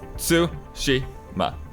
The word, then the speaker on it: Tsushima: what you're saying is japanese theoretically doesn't have it accents right so that all the syllables are even voice like it's su Shi ma so I can so